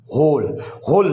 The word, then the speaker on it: whole: ऐसी एक और वर्ड है होल, WHOLE होल में W साइलेंट है।